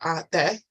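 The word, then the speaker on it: Ateh: Pronounced Ate, meaning for thine.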